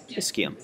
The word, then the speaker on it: ischium: And then the ischium. It's going to be the inferior most part of the hip bone. Never know if you're just going to get clogged. And that CHI is pronounced key. Ischium.